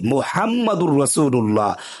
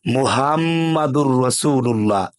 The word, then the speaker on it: মুহাম্মাদুর রাসুলুল্লাহ: সেটা হলো মুহাম্মাদুর রাসুলুল্লাহ এখানে বড় হা দিয়ে মুহাম্মাদুর রাসুলুল্লাহ হামদুন থেকে নির্গত অর্থ হলো প্রশংসিত আর আমরা উচ্চারণ করি মুহাম্মাদুর রাসুলুল্লাহ ছোট হা দিয়ে হামদুন থেকে নির্গত তার অর্থ হলো আলোহীন হওয়া এবং ধ্বংসপ্রাপ্ত হওয়া নাউজুবিল্লাহ তাহলে অর্থ কি দাঁড়ালো